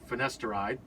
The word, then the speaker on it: finasteride: Well, sometimes it's multiple drugs that you'll prescribe, because I'm on finasteride.